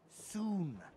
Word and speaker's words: Sun: It's soon. What? Dr. Soon. Rhymes with moon?